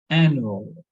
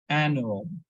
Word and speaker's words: annual: So we need to stress on the syllable before that one. So it should be like annual, annual.